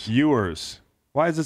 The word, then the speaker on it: Ewers: Ewers. Why is it spelled that way? Like Patrick Ewing.